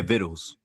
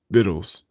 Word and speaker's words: victuals: Yeah, vittles. Viddles. Yeah, it sound like it's it's red. It's like it looks like it has like a C in it, but that C is silent.